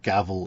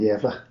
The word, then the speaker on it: Gävle: Well, I didn't know the right pronunciation, that's a start. I've been calling it gavel in my head.